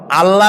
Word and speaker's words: আল্লাহ: কি গুণাবলীতে বিশ্বাস আল্লাহর নাম আল্লাহ বলেন তো আল্লাহ নয় কিন্তু আল্লাহ হচ্ছে অশুদ্ধ শুদ্ধ হচ্ছে আল্লাহ